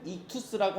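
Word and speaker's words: ἰχθύς: 가진 단어가 바로이 단어예요 발음은 이투스라고 하는데이 그리스어 물고기라는 뜻을 갖고 있는이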